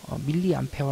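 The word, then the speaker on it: 밀리암페어: 관 연료 라고 하면 ma 단위로 쓰고요 밀리 암페어 라고 읽어요 x 선과 4 흘러간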